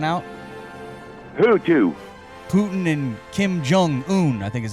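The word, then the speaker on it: Kim Jong-un: them were hanging out who two Putin and Kim jung-un I think is how you say his name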